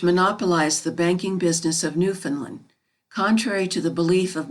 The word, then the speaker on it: Newfoundland: will tell you that the name of their country is pronounced with the accent on the last syllable new found land the main street of